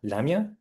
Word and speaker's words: Lamia: Is it Lema or Lamia? Lamia? Lamia? Yeah.